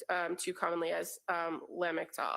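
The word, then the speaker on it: Lamictal: The pronunciation, that's also referred um to commonly as um, lamel. It is correct. Lamel.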